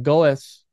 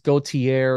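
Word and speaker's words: Goethe: Now, Wagner is in Goes, and I know that's not how you say it, so before anybody corrects me, it's Gautier or something like that, Faust.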